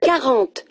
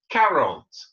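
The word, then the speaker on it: quarante: 40. 40. 40. Répétez. 40. So it's that ca sound at the beginning.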